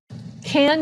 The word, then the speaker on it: can: teacher in a school she says the word can a bit faster and the vowel sound changes from a like in apple to the schah uh